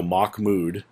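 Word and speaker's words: Mahmoud: it I would put put a uh literal pronunciation so mock mood is how you say his name so I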